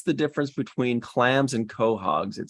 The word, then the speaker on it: Quahog: difference between clams and quahogs it says the Quahog pronounced Quahog is a species of